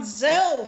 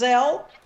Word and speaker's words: Zelle: Actually, they have it on Capital One has Zelle. Zelle. Zelle. Z. I thought it was Zelly. Huh? I think it's Zelly. It's Zelly. Okay. Pronounced Zelly.